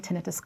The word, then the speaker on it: tinnitus: Tinnitus, I should mention here briefly, can also be pronounced as tinnitus, but I have chosen to call it tinnitus, and this is what I will continue using this term throughout these lectures.